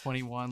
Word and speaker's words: 2NE1: it's spelled to anyone it's pronounced 21 like the number yeah the album has